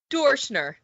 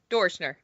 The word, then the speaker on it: Doerschner: Okay, how do you say her name? Doerschner, like Okay. adore. Doerschner. Okay.